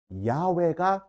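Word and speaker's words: 야훼: 했을 때 야외가 가장 정확한 발음이라고 생각합니다.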